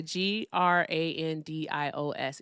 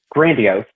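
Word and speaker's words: grandiose: Yeah, but it's Grandoise. Uh, it's uh G R A N D I O S E. I can't pronounce it right now for the life of me. Oh, Grandios. Grandios. Thank you. I don't know why I didn't want to pronounce the I.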